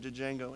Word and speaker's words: Django: just call it Django the D is silent Cory the D that